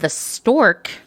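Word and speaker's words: Storque: own magazine video cast called the stork that's spelled s-t-o-r-q-u-e in case you were wondering which the new york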